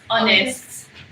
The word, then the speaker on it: honest: You know, they used to say the H is silent. Honest.